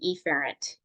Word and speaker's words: efferent: afferent or afferent arterial I usually try to pronounce the a really apparently because the other one is called efferent so they sound exactly the same so that's why I just say afferent and efferent just so you guys